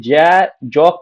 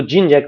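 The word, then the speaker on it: Jean-Jacques: देखिएगा जॉन Locke और जिन जैक इनका नाम ना हिंदी में जय जॉक करके देता है लेकिन इंग्लिश में उसको अगर उच्चारण करेंगे तो जिन जैक रूसो ये दो दार्शनिक हुए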